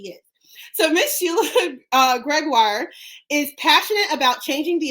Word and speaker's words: Gregoire: let me see it greguar ha I finally got it right guys I've been pronouncing it wrong this whole time who knew right I